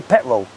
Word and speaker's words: petrol: Like, for example, the word petrol, he will say petrol. He doesn't pronounce the T.